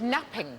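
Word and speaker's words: knapping: No, but you're right, it begins with a silent K. When we made early tools, what do we make them out of? Flint napping.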